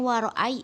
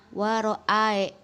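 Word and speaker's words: وَرَأَيْتَ: bukan walfathu bukan ya pada ayat kedua waroa itu dibacanya waray bukan Waro ae lalu yang ketentuan kedua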